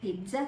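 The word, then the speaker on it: pizza: සමහරක් අය පීසා කියනවා, සමහරක් අය පිට්සා කියනවා. හරි වචනය පීට්සා.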